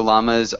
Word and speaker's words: llamas: and yeah and so llamas are pronounced with the strong l in English oddly but yeah I I